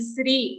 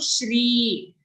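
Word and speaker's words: श्री: Okay, sometimes we are used to saying Sri. Okay, but here it's a sh sound. Shri.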